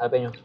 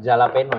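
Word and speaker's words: jalapeño: Jalapeno tau nggak? Jalapeno. Cabe apa? cabe apa? Cabe Meksiko. Cabe Meksiko ya? Bacanya bukan jalapeno ya, jalapeno. Yes, jalapeno.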